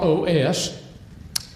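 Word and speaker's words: Eros: The Greek word is OS. E R O S. And uh that's the way most of us would pronounce it, OS.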